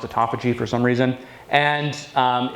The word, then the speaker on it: autophagy: thing that it does activate is something called autophagy which is spelled autophagy but pronounced autophagy for some reason and um it basically does